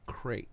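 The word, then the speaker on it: Krayt: street gang called the crate dragons spelled like a Creed dragon yep like KRA YT or like crate sarah YT and the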